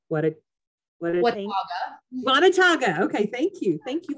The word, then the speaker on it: Watauga: at the Children's Council of, I want to pronounce it correctly, Watauga. Okay, thank you. Thank you for correcting me on that. Watauga County.